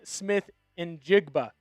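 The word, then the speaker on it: Smith-Njigba: Wide receiver Jackson Smith and Jigba.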